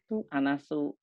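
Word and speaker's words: النَّاسُ: Kemarin Anda mengatakan tentang isim itu cirinya ya, nasun. Ini asalnya gini nih. Nasun ya. Nasun. Nah, ini kalau ada alif lam ditambah jadi dibacanya anasu.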